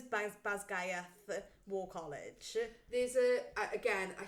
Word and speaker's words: Basgiath: Just so interesting that you say it like that, because I say Basgiath. So I did a mixture of reading the book and listening to audio book. So my pronunciations are from the audio book.